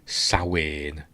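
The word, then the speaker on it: Samhain: Um, I wish they would bring the best villain for the cartoon, Sawin. And that's how you pronounce it.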